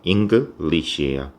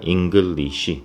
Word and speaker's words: English: 자, 이 English는요, 이게 이음절이거든요. English예요. 그런데 방금 제가 English 너무 사음절처럼 발음을 했습니다.